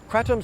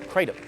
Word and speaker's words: kratom: The main ingredient inside this bottle is kratom, sometimes pronounced kratom. Kratom is a tropical tree